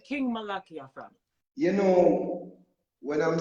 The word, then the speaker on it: Malakiyah: okay you know I've been saying your name on King malachia this is is that way for years so when I hear everyone else say Malachi I'm like wait a minute I said it said it wrong but I I love